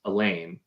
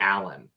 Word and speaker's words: Alain: pronounced as Elaine the That's what I entire would do. time. Yeah. Apparently, it's closer to Alan, um, and that upset me.